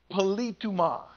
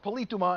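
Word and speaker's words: πολίτευμα: That word conversation is from a word in the Greek language, politouma, is how you say that word, politouma.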